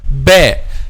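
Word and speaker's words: باء: So first of all, the letter ba. How we pronounce letter ba? I want to explain letter ba with the letter meme, because both of them is pronounced by closing the two lips together.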